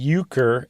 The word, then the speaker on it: Euchre: that we play today it's spelled you or sorry e-u-c-h-r-e ukr and then Dave points